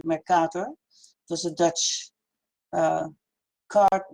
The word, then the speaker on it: Mercator: You pronounce it the Mercator map, but it's actually the Mercator.